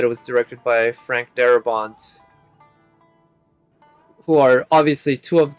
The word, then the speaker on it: Darabont: by frank darabont actually his name kind of sounds french i know it's pronounced frank darabont but it looks like it could have been pronounced frank dahabal but in any case